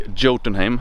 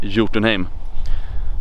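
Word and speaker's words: Jotunheimen: with a j but in swedish a j is pronounced like a y in english so i don't say jyotinheme i say you to name so now you know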